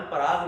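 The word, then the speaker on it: Prague: राजधानी है उसकी प्राग, पान पराग नहीं है, प्राग है, ठीक है, मिस प्रोनाउंसिएशन नहीं करना।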